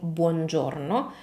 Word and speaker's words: buongiorno: As you can see, we have quite a few vowels in this word, as it happens with most Italian words. And the point with vowels in Italian pronunciation is that, as I always say, they are the pillar of correct Italian pronunciation.